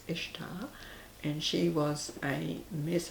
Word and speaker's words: Ishtar: it can be pronounced if starboard usually it's pronounced Ishtar and she was any miss Abbot a Mian